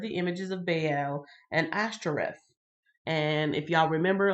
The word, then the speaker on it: Ashtoreth: And so, yes, Baal was one, and Ashtoreth or Astera. It's like Astera, but they pronounced it like Ash.